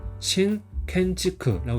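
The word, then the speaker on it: 新建築: 발음은 신켄지크라고 있습니다.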